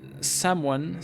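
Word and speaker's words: Samhain: Uh, Sam Hain approximately pronounced Saman is a Gaelic festival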